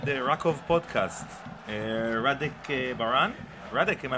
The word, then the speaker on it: Rádek: Rádek, am I pronouncing it right?